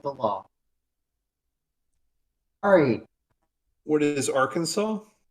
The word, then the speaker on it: Arkansas: of the word, but it is pronounced Arkansas according to the law.